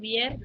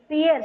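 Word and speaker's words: vier: வை ட்ரை வியர் புன் வியர் யார் சொன்னது? வியர் வியர் வியர் யார் சொன்னா? ஃபியர் ஃபியர். வி வந்து எஃப் ப்ரொனவுன்ஸ் பண்ணோம்.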